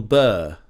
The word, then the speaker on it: Burr: favorite stand-up comedians bill burr if you pronounce his surname with the british pronunciation bur bur that's the his surname uh again spelled with b u double r to ours so that's